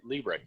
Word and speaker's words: Liebrecht: on the line with you here today jason libre did i pronounce that right you did pronounce it correctly